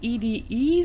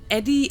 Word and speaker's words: EDE: Now, interestingly enough, that voice just pronounced its name is EDE, so basically just spelling out the letters separately. So not Eddie or Edie, but EDE. I guess that's the proper name for it, so maybe that's